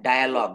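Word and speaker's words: dialogue: যেমন এখানে ডায়ালগ, দেখেন এটা উচ্চারণ করব কিন্তু ডায়ালগ, ডায়ালগ অর্থাৎ এই আই এ, এটার উচ্চারণ আইয়া হবে। দেখেন বাংলায় লেখা আছে আই, তারপর এ।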